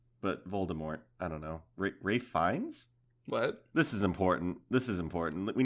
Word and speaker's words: Ralph Fiennes: Ralph Fiennes? It's Ray Fiennes, I'm pretty sure. But his name is spelled Ralph.